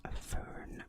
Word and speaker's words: Fern: So, for example, my name, I pronounce my name as Fern because that's how you pronounce my name in English.